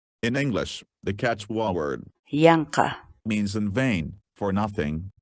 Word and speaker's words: yanqa: for today is in english the quechua word yanka means in vain for nothing needlessly for example